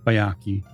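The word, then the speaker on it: Byakhee: So that's Bayaki. Oh, is okay. the way you pronounce it.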